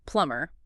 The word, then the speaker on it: plumber: Now, the common error is sounding out that final B sound. Why is it even there if it's silent?